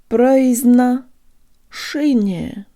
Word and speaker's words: произношение: The tongue rises at the end of this syllable to prepare for the soft N, which sounds like it has a Y built into it, and the last ye sounds like a schwa.